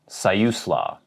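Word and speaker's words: Siuslaw: walletin to wallatin organ and another one sayusla sayuslaw might be very difficult for people who are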